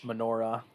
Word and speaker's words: menorah: yeah i was like i know i'm missing a syllable so i apologize about